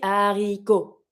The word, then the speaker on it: haricots: Les haricots, the beans, les haricots. We don't do the link.